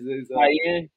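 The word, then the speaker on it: Kiyan: Cayenne. Like the pepper, yeah. Really? Pronounce this like that? Oh, exactly like that, yeah.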